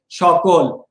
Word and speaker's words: সকল: মনে রাখবা উচ্চারণে যে কোনো স উচ্চারণে তালব্যস্য হয়, সে হিসেবে অপশন এ ভুল, কারণ দন্ত স উচ্চারণে তালব্যস্য হবে। আর মনে রাখবা মধ্যবর্ণে যদি অ থাকে এই অ উচ্চারণে ও হয়ে যাবে। তাহলে প্রথম অপশন এর উচ্চারণটা হবে সকল, আর অপশন বি তে আছে শ্রাবণ।